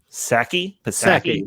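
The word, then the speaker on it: Psaki: do you say that say that last name saki yes who nate has a crush on uh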